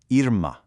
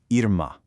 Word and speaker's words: irmã: Notice what's missing? That little W sound at the end is completely gone. Instead, it's an abrupt nasalized "ah" sound. That subtle shift in the final vowel is literally the only difference between brother and sister when speaking. So, start with the same ear sound, but cut it off shorter.